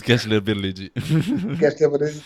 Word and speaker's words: Gençlerbirliği: And Beşiktaş playing at home with Gençlerbirliği. Gençlerbirliği. I can't pronounce this name. Yeah, it's Gençlerbirliği.